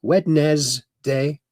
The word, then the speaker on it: Wednesday: That's the way it's spelled. Wedz day. Uh Wednesday they call it even though it's spelled wedd day.